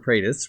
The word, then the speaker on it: Praise: Praise, pronounced prais, like if someone combined praying mantis into one word.